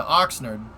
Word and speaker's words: Oxnard: Oxnard, you said it right, Captain?